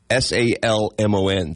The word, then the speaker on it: salmon: oh yeah they corrected me alond like you pronounced the l oh God how do you say s a l m o n the fish salmon okay I thought maybe it